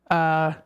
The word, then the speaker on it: Shawano: So you can try the someone told me that I've been pronouncing this wrong. It's Shawano car show, I think.